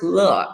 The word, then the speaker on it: Loh: you got the pronunciation what you said is the mandarin pronunciation of my surname look so law is actually the correct way to say it but most americans they would say doors low and i'm so used